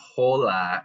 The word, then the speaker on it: hola: Something important is that H's are not pronounced right in Spanish. They're silent. That's why it's not hola. It's hola.